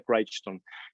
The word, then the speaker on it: Crichton: park michael craig bryson así es como se pronuncia se escribe crichton pero se pronuncia craig stone ya falleció este hombre